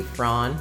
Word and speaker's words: Fran: is going to be frawn or fran however you want to pronounce that the new bt character